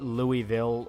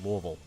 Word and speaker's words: Louisville: it says Louisville yeah we don't call it Louisville or Louisville anyone says well that's the correct pronunciation no we will beat your ass if you say that it's Louisville any other Kentucky Legends outside goblins uh there's